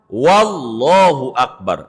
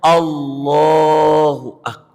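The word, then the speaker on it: الله أكبر: Kesembilan, enggak boleh nambahin waw di depan. Wallahu Akbar. Enggak boleh. Karena nabinya enggak ngajarin. Udah ngajarinnya Allahu Akbar. Kesepuluh, tidak boleh pakai diem antara Allah sama Akbar. Allah Akbar.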